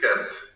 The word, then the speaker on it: Ghent: Ghent, it's Ghent.